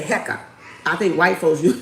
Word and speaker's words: Heka: Heekkah with the See, we say it like this. Black folks say it like this. Heka. White folks Wiccans. Heckite. Okay. So two different ways.